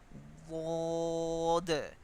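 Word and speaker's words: ض: Wod. This letter should be pronounced correctly when you touch the side of the tongue with the same side of upper back teeth.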